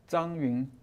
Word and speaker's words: Zhang Yun: Zhang Yun. Zan Yun. That's what I said. So is like ZH, is that pronounced like Zan? Yeah, Zan? pretty close.